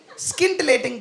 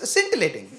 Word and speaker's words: scintillating: blah for that very skin ating performance SK right she said scintillating you see how it was the women who went what you know cuz the correct pronunciation of of it is scintillating right which I did